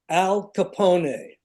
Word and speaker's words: Al Capone: Billy insisted on pronouncing his name Al Capone, which is correct. Oh no. Everyone say nobody would not he kept doing it. Who are you? Al Capone.